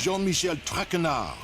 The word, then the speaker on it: Jean-Michel Traquenard: As for my name, not Traquenard. Traquenard. It is Jean-Michel Traquenard.